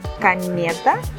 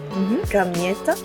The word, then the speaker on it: комета: Комета. Gamieta. Комета. Comieta.